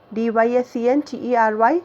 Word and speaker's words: dysentery: Pronunciation completely different, children, here. DYSENTERY, but at the time of pronunciation we should say dysentery.